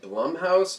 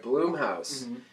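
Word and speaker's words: Blumhouse: how to pronounce it is it Blum house or bloom no bloom pops all right bloom house is going to be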